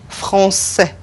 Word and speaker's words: français: Français. French. Un beau garçon. You see, it's pronounced like a C, a normal C.